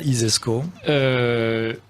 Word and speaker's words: ISESCO: si vous considérez que ça isesco comme ça se prononce ainsi donc si vous imaginez